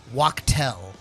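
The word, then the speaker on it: Waddy Wachtel: that this is how I heard it's pronounced this week. Uh-huh. Waktel. Oh, Waktel. Okay. I thought you were I going don't to know say if that's how it's you not pronounce Wadi, it's Wadi. Waddy Waktel, the I was famous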